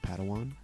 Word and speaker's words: padawan: a pad one to this bold jedi it's pronounced padawan oh padawan excuse me hey it's getting late